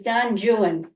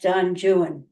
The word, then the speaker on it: Don Juan: himself sexually and otherwise his comic Masterpiece is Don jwan uh it looks like Don Juan but he always insisted it' be angelized and pronounced Don jwan incomplete at 16 kantos he continued a lifelong